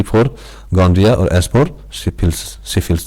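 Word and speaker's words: gonorrhea: Examples इसका देखिए क्या क्या एग्जाम्पल है, इंक्लूड्स गोनरिया, देखो स्पेलिंग गोनरिया, इसको गोनरिया पढ़ेंगे, समझे, गोनरिया एंड सिफिल्स, गोनरिया एंड सिफिल्स, ये क्या है, एसटीडीज है।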